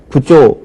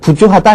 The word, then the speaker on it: 부조: 예를 들어서 남을 도와주다, 돈으로 도와줄 때 우리가 부조 혹은 부주하다, 일반적으로 이렇게 얘기하죠. 부주하다라고 얘기를 하지만 이것은 원래 한자음을 따라서 역시 부조가 맞겠고요.